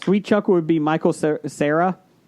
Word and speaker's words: Cera: Sweet Chuck would be Michael Cera. Cera? How do you say it? Cera? Sarah. Yeah. And Michael somebody recast Hooks as Kevin Hart.